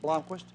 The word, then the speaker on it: Blomquist: the game he said how do you pronounce his name right here is that blondquist he said really i said he said that's exactly right did he go yes